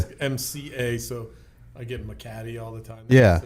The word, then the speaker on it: Mcatee: Yeah, Mcatee. Yeah. Okay. Just MCA, so I get Mcatee all the time.